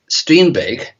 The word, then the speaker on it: Strindberg: And in the occult diary, I used Strindberg, which is how they pronounce his name here.